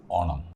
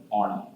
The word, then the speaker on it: Onam: I would say it is Onam. Okay. So I hope our listeners hear that there's a slight difference. It's not Onam, but Onam. Correct? Yes, that's the true Malayali way to say it.